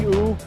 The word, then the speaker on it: U: Am I pronouncing your name uh properly? Uh okay, my last name is just U, so U, okay. just say Peter U.